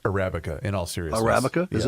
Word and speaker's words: Arabica: know whatever the future it's pronounced Arabica in all serious Arabica